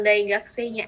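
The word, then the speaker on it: 大学生: Untuk Pak Danar-sang tinggal daigakse-nya aja. Tadi gakusei-nya masih kedengeran U-nya. Mungkin next-nya bisa dihilangkan saja untuk U-nya. Biar nggak kedengeran U-nya untuk yang daigakse-nya ya.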